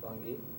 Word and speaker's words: Bangui: Did I pronounce it right? Bangui.